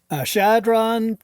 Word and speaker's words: Chadron: I've never heard of Shadron, but I love me some Nebraska. Johnny Carson's from Nebraska. And what's on your mind? Shadron, Nebraska, spelled with a CH, so I hope good. I'm getting it right.